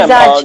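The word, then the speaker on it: मिज़ाज: मिजाज या मिजाज? नहीं मैम, मिजाज।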